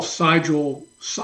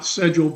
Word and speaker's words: Sigel: I call Sigel, not Segel because of the German pronunciation, but whatever way he pronounces it, was at the undergrad level.